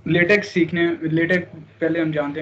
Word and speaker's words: LaTeX: तो इसका मतलब है कि आपको लेटेक के बारे में पहले से थोड़ा सा पता है। इसको प्रोनाउंस भी ठीक करना, ये लेटेक्स नहीं है, ये लेटेक है।